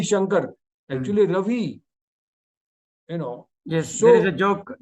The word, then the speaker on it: Ravi: They say B for victory. There is no V in Bengali language. It's funny, but it's not. Robbie Shankar. Actually, Ravi.